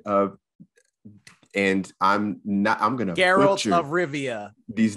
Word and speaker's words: Geralt: It explores the legend of, and I'm going to Geralt of Rivia. These names. It's Geralt, all right? Geralt of Rivia. Yes. It's not Geralt. Geralt of Rivia. Not Gerald. It's Geralt. Garrett. The hard G.